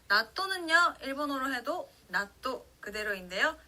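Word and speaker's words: 納豆: 자, 나또는요, 일본어로 해도 나또 그대로인데요. 자, 타행 앞에 왔기 때문에 시옷 받침으로 해주시는 거 주의하면서 같이 한번 따라해 볼게요. 나또, 나또.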